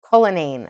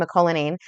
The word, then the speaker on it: Cullinane: It's MJ Cullinane, okay? But I always say MJ McCullinane because the MJ makes my brain think that it's an MC. Okay. So MJ Cullinane.